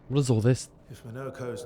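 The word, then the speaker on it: Monoco: Monokco. Sorry, not Monokos. This is how they're pronouncing it.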